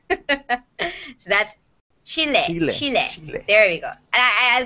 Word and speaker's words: Chile: Chalet Chile I love I love how Sebastian says Chile because I used to say chili I'll be honest I used to say it like like chili like the spice and then when Sebastian make like me like I'm from Chile it'd be like I I am so saying it wrong so that's Chile Chile